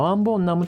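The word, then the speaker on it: 왕벚나무: のことで、この読み方はワンボンナムとなります。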